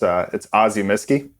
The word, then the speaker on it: Ozyemisci: I have a tough time pronouncing it myself, so it's Ozyemisci.